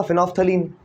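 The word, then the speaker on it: phenolphthalein: वैसे इसमें L well silent है इसलिए इसको आप फिनोल्फ्थलीन कह देते हो, ठीक है।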